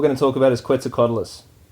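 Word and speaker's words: Quetzalcoatlus: to talk about is qu cadus that's how that's how you pronounce it right qua quadis Galis qualis that's right so if you imagine because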